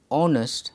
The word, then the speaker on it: honest: The word honest begins with a vowel sound because the sound of the letter H is silent. Therefore, it is pronounced honest and an is used.